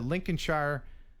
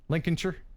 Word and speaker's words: Lincolnshire: the UK near the Lincolnshire coast. I know I'm saying that in American. It's Lincolnshire. Lincolnshire, is that how they say it?